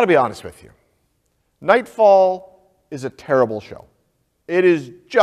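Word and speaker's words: Knightfall: Nightfall, but it's spelled with a K, K-N-I-G-H-T, fall.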